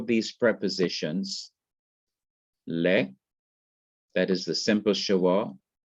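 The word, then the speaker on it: לְ: So we can call these prepositions le, that is the simple schwa, is underneath it, and it is pronounced like the e in because or au revoir.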